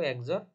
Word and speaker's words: XOR: এক্স একজর বি ঠিক আছে এটাকে আমরা বলবো একজর বি তো এই যে লেদার পয়েন্টে দেখাইতেছি তাহলে এইটা কি আমার এটা হইছে একজর এটা হইছে বি তার মানে আমরা উচ্চারণ করবো